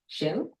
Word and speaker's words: Kjell: I don't know if I'm pronouncing it right. Kjell? Yeah, that's correct, actually.